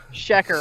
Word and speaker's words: Shecker: Fuck you, Shecker. That is Shecker, right? That's right.